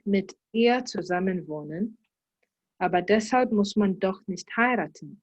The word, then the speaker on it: deshalb: you pronounce it Deshalb.